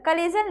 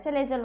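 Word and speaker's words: chalaza: English में चलाजा, और आपके बुक में इंग्लिश को भी हिंदी में प्रोनाउंस करके लिख दिया है कलेगल, कलेजल, कलेजल नहीं होता है, चलेजल होता है, ठीक है।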